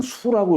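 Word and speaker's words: 宿: 여기에 우리가 뭐 어디 뭐 숙박한다 묶는다 할 때는 숙이라고 읽지만 별자리를 얘기할 때는 수라고 읽어요. 별자리 수.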